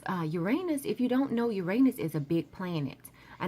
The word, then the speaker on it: Uranus: after that we have Uranus or you're on us or Uranus however you want to pronounce it so your anus is a huge planet